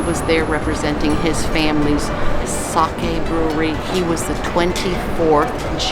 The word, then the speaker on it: sake: into a sake and it's not pronounced sake it's sake we had one of